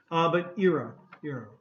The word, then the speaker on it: era: This is era. Some people do say era. Okay. But two pronunciations. But era.